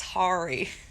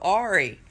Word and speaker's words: Horry: bad hmm bad oh pronounced Ari that's where Myrtle Beach is oh I'm speaking of it's Hari no Ari it's not it's not horrible oh I was thinking